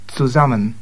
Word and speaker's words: zusammen: And just to remind you, the German Z is pronounced as if it were TS. Zusammen.